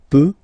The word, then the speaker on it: peut: So you will put T at the end, you don't pronounce it. Il peut, elle peut.